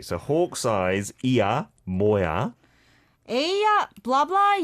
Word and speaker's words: 의: So basically, whenever it's possession and you see this 의, just pronounce it 에, and you can't go wrong.